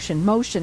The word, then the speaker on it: Mocean: It's Ocean Flooring, but let me it's Mocean, not Ocean. I said Ocean. It's Mocean Flooring, and let me spell it for you because it's you say it differently than the way it's spelled.